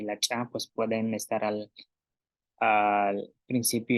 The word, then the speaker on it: lak: que la consonante cha y la cha, pues pueden estar al principio y al final de palabra.